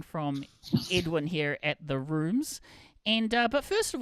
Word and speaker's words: RVMES: the band name because it is pronounced rooms but spelled RV Mes.